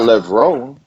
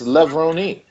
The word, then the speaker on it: Levrone: It's not Levrone. It's Levrone. with an Like E on the end.